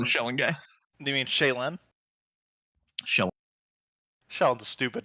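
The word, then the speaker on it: Shelyn: In They pronounce it Kingmaker, that way, they say Shellen.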